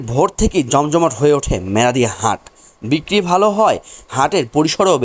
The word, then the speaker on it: মেরাদিয়া হাট: বুকে এমনই একটি হাটের নাম হলো মেরাদিয়া হাট উচ্চারণের আঞ্চলিকতায় অনেকে বলেন মেরাদ হাট হ্যালো গাইজ আসসালামু আলাইকুম